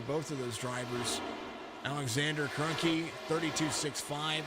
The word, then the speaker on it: Kroenke: of those drivers alexander kroenke 32-65 i should have known how to say his name it's pretty close to stan who owns the rams who won the super